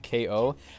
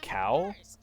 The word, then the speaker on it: Kao: now yous realize that Keo is pronounced like ko I don't know cuz in this version they say cow like cattle and I always assumed it was ko cuz like it's a pun like knockout you know I know